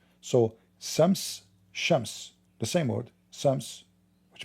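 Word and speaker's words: شمس: Like in the Aramaic, sometimes the letter S pronounced as sheen, sometimes as seen. So Shams, the same word, Shams, which means sun, Shams.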